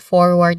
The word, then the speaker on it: forward: The or sound can vary slightly between British and American English, where the letter R sound the letter R sound can be really highlighted or it's clear or not. It's clear with American English and it's not in British English because British English is non-rhotic and American English is rhotic.